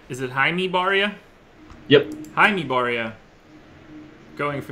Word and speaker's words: Barria: going for the Astro so I was trying to get the baseball reference as fast as I could for the official pronunciation this guy could have been just a regular white person and I wouldn't have known but they don't have the they don't have the first name pronunciation they're just Barria anyway Garrett cool most